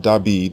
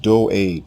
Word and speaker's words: David: david it is not dawid his name is pronounced do aid or dodd for short the king's name is derived from the hebrew word doud which means beloved more correct versions of